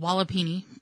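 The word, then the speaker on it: walipini: have here is called walapini i think that's how you i would that's how i would pronounce it w-a-l-i-p-i-n-i so basically and what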